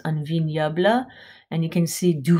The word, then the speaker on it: un vignoble: This is pronounced un vignoble.